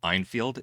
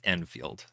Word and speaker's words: Enfield: Did you call them Einfield? It's Enfield.